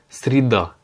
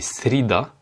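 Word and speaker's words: среда: Mercredi, sreda. Alors là, le Y n'est pas accentué, du coup, il se prononce comme un I. C'est pas sreda, mais srida. Srida, pardon, j'ai mal fait l'accentuation.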